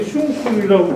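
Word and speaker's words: 웅십력: 김재란 선생님은 여기 슝술이라고 되어 있는데 웅심역이라고 우리 발음이 있습니다.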